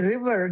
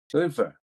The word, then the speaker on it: river: But the word river, that's important. Can you pronounce river? Liver. River. Liver. No, no, no, no, no. Again, it's river versus liver.